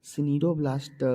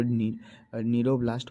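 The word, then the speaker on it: cnidoblast: यहाँ CNIDO सिनीरोब्लास्ट लिखा हुआ है, लेकिन इसको नीरोब्लास्ट पढ़ते हैं क्योंकि सी साइलेंट होता है।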